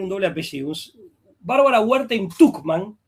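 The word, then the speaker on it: Tuchman: Bárbara Werte Tucman. Se escribe Tchman con ch.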